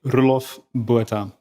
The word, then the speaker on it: Roelof Botha: My parents would call me Roelof Botha. Roelof Botha. Pretty close. I'm not going to pass for an Afrikaner, but Your pronunciation is excellent.